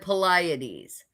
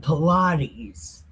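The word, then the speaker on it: Pleiades: Arcturus Oran and Poliades and the Chambers of the South which does great things past Do you want to know how to say them right? It's Archalus, Archelis, Orion, and Pilates.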